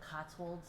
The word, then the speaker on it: Cotswold: That's kind of like what it sounds like, but it's Cotswold.